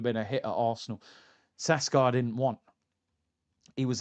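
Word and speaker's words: Šeško: Last season's injury issues meant Arsenal persuaded Mikel Arteta to relinquish his ambitions of signing Alexander Isak and perhaps even Benjamin Sesko, as it's pronounced.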